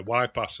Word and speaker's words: Y-Pas: And I'll say, "Wip pass." And they'll go and spelled like this. And then they'll go, "Wip pass.